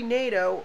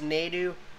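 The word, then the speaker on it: Nadeau: filters toyota from 2013 nato or it's pronounced nedu but my last name is pronounced nato i don't know if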